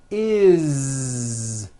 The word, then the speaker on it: is: always add the ending is with a voiced Z. Is. It doesn't matter that it's spelled with an S. It's never is, unvoiced, never. It's always is with a voiced Z.